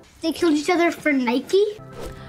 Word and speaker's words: Nike: Але беззаперечним є те, що в Америці звучить Nike. Це ім'я запозичили у грецької богині перемоги, яка в нас зветься Ніка. They killed each other for Nike?